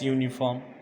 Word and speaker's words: uniform: Likewise, dash uniform. Uniform is, this word is also begins with vowel letter but its pronunciation begins with consonant sound.